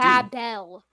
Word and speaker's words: Babel: Because that's how a lot of English speakers do. Babel. Yeah. Look, I'm not going to tell English speakers that they have to pronounce all words with Hebrew, with a Hebrew etymology exactly the way that they were pronounced in Hebrew, or the way that